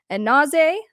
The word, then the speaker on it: Anzai: He was announced as stepping up now as lead guitar, and then Emma Anzai, I believe is how you say it, of Sick Puppies, is the one who's coming in now to replace him as bassist.